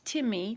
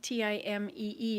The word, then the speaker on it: Temmie: It's Timmy, Timee is how it's pronounced.